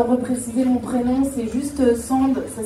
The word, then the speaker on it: Sand: Ben moi c'est Sand, enchantée. J'aime bien repréciser mon prénom, c'est juste Sand, ça s'écrit S-A-N-D.